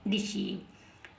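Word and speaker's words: deceive: ई आई वी E last में ई आई व ई है ई आईवी ई है तो क्या पढ़ेंगे ईव क्या पढ़ेंगे ईव तो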